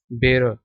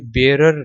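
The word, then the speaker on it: bearer: बैर ठीक है बैर ये जो आखिर में आ रहा है ये है साइलेंट ठीक है बे र बेर ठीक है तो आपने इसको ऐसे पढ़ना है प्रोनाउंस करना है यह बेरर नहीं है बेरर नहीं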